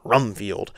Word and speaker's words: Rumfield: You got to say it like you're revving up a car. Rumfield.